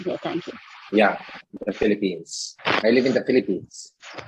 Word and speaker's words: Philippines: way you pronounce the philippines so remember the philippines always has an s and it is always president by that yes the philippines so you tend to say philippine all the time so that's a very